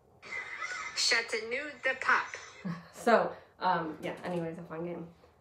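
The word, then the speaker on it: Châteauneuf-du-Pape: Chateau Neuf du Puppy. Okay. This is the correct pronunciation for what he just said. Sort of, because I do not have a good French accent. Chateau de Pop.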